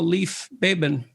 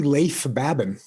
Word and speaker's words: Leif Babin: the dichotomy of leadership with fellow retired seal Leaf Babin did I pronounce that right it's actually Lea Babin oh so I didn't pronounce it right at all Leif Babin he hosts a weekly podcast with Brazilian jiu-jitsu